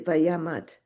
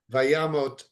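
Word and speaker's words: וימת: But you're saying vayamot as opposed to vayamat. Right. Vayamot, because again, knowing the root and knowing the construction. So technically it's Vayamot, because the root mot or mavet Yeah. is dying or death.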